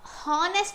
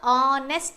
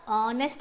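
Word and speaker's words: honest: ಮಾಡ್ತೀವಿ ಅಂತ ಇಲ್ಲಿ ಇದು ಹನೆಸ್ಟ್ ಅಂತ ಹೇಳಲ್ಲ ಹನೆಸ್ಟ್ ಅಂತ ಎಚ್ ಅನ್ನ ಉಚ್ಚಾರ ಮಾಡಲ್ಲ ಇಲ್ಲಿ ಎಚ್ ಅನ್ನೋದು ಸೈಲೆಂಟ್ ಆಗಿಬಿಡುತ್ತೆ ಉಚ್ಚಾರ ಮಾಡುವಾಗ ಆನೆಸ್ಟ್ ಅಂತ ಹೇಳ್ತೀವಿ ಉಚ್ಚಾರ ಮಾಡುವಾಗ ಅಥವಾ ಪ್ರೊನನ್ಸಿಯೇಶನ್ ಮಾಡುವಾಗ ಆನೆಸ್ಟ್ ಅಂತ ಹೇಳ್ತೀವಿ ಎಚ್ ಸೈಲೆಂಟ್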